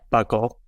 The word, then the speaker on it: buccal: Buckle.